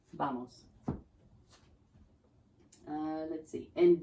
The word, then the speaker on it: vamos: They're just going to be appreciative that you're trying, but you can say vamos, like a B, vamos.